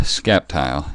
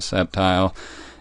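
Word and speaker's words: Sceptile: wanted to use Mega scap tile yes I pronounce it scap tile not septile if you're still not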